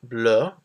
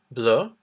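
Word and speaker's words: bleue: So we have the word bleu for blue, bleu. The extra E is for if it becomes feminine. The pronunciation is the same though.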